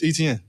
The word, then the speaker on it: Etienne: So I'm like, man, it's ETN. Like how you see it is how you say it.